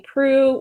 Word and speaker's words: Proulx: be talking about the shipping news by Annie Pru which I had to look up how to